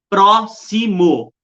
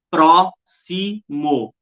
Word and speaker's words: próximo: é a última sílaba mã é próximo próximo ó é a anti penúltima sílaba ó última penúltima antepenúltima